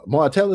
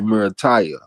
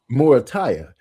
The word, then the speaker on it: Morataya: A little surprised, but not too surprised because uh Martella, that's how you say his name. Oh, it's really Meritaya. Morataya.